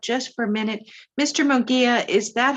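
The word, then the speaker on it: Mungia: in his last either it's m-u-n-g-i-a i believe it's munjia so if we could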